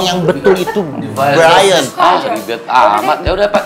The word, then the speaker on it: Brian: Sudah melihat si Birian. Brian, Pak. Siberian. Dibacanya Brian, that is wrong. Yang betul itu Brian.